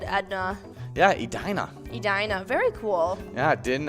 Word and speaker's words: Edina: you guessing edna edna well the common mints mispronunciation is edna the actual pronunciation is edina uh yes uh people like to pick on